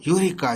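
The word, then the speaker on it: eureka: ई silent है इसका, ठीक है, यूरिका यूरिका, ग्रीक वर्ड था ये, जिसका मतलब था मैंने पा लिया, मैंने पा लिया।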